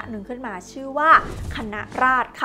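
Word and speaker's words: คณะราษฎร: ขึ้น มา ชื่อ ว่า คณะ ราช ค่ะ ซึ่ง จริง ๆ อ่าน ว่า คณะ ราษฎร นะ แต่ ว่า เพื่อ ความ คุ้น ป่า ขอ อนุญาต เรียก คณะ ราษฎ ต่อ ไป นะ คะ ก็ จะ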